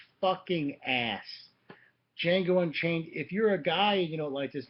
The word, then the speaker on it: Django: uh is django unchained the d is silent django unchained quentin tarantino's i